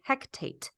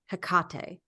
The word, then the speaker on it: Hecate: goddess Hecate or Hecate they say hectate instead of Hecate and maybe they did